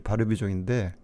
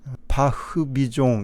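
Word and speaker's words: Barbizon: 이 빨간 부분이 바르비종인데 가깝죠? 바흐비종 이렇게 돼 있죠. 우리는 영어식으로 읽을 때는 바르비종 이러는데 프랑스는 알파벳 R자를 히읗 발음으로 이렇게 해요. 자, 이 바르비종은 어떤 동네인지 한번 거리를 한번 볼게요.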